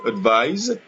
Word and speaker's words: advise: Donc, la différence qu'il y a entre le verbe advise avec S prononcé Z, advise, et le nom conseil, un conseil, advice, avec un C, on prononce S.